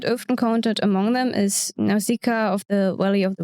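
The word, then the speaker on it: Nausicaä: Also, how do we pronounce Nausicaa? Because it's Nausicaa in Japanese, but the way it is written, you would have to say Nausicaa with like the second A separate, which sounds weird.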